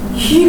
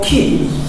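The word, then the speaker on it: כי: 옆에 8 등 저렇게 길게 발음 돼요 그래서 희 가 아니고 키 키 그러니까 요건 뭐냐면 왜냐하면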